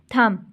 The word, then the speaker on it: thumb: Next है बच्चों थंब, THUMB। अब इसमें बी साइलेंट है, थंब नहीं बोलते, हम इसको थंब कहते हैं, तो यहाँ पर बी साइलेंट है, थंब।